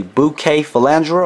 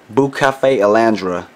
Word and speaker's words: Bucephalandra: found among the island of Borneo the correct pronunciation for the plant name is actually bouquet fandra or bu Cafe Alandra now I'm American and when I see the